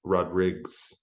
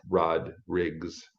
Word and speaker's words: Rodrigues: The S on the end is Rodrigues, is the actual, so it rhymes with King Rodrigues. Like, who goes back in their family tree that far, but basically it's pronounced Rodrigues.